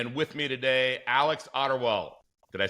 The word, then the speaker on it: Ottewell: It's Ottewell is the official name to pronounce it, but I added an R for the Americans because Americans decided to always butcher it, so I always added the R.